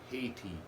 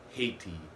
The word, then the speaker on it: Haiti: First, I want to talk about the Haiti issue. A lot of people don't realize Haitians, which when some Haitians pronounce the word Haiti or Haitian, it sounds like Asian.